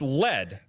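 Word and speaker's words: lede: word dead the day no it's pronounced lead yeah but yeah the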